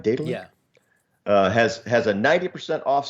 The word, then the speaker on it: Daedalic: Separately, right now on Daedalic Games, did I pronounce that right? Daedalic?